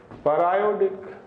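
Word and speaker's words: periodic: इसको क्या पढ़ते हैं? पैरायोडिक एसिड। इनकी स्पेलिंग में क्या डिफरेंस है? 100% सेम, फिर भी दो अलग अलग प्रोनाउंसिएशन।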